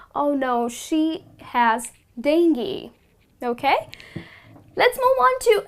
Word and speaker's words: dengue: it's quite disturbing so this disease is pronounced as dengue very commonly people pronounce it as ding goo but that's incorrect the correct pronunciation is dingy and not dangu okay so the next